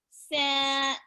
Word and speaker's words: scent: This is a soft sound. When a C says S, S, S, it's a soft C sound. When a C says K, K, K, it's a hard C sound.